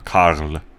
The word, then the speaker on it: Karl: There is an R sound in the German pronunciation. Karl.